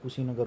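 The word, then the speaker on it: Kushinagar: और जो उसकी मृत्यु जो हुई थी वो कुशीनगर में हुई थी। कुशीनगर यूपी में पड़ा है। कुशी का प्रोनाउंसिएशन भाई साहब जैसे खुशी की तरह लागे हुए, खुशी बरगा सुनने में लागे खुशी।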